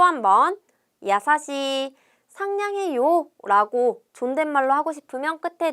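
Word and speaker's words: やさしい: 우리 상냥하다라는 이형용사 야사시입니다 상냥하다는 야사시하고 길게 발음해 줘야 돼요 같이 발음해 봅니다 야사시 다시 한번 야사시 또 한번 야사시 상냥해요라고 존댓말로 하고 싶으면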